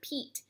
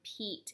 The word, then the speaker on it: peat: This is the word peat, where there's a magic E at the end. That E is silent, but it makes this letter E say its name.